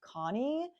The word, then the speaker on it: Kionnie: I've also seen her name pronounced Connie, but I'm going to say Kionnie because that's what most people have been saying, plus there's an I in it.